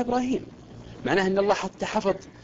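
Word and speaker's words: إبراهيم: حتى شوف القران مثلا كلمه ابراهيم في سوره البقره تكتب ابراهم بدنيا نقراها ابراهيم معناه ان الله حتى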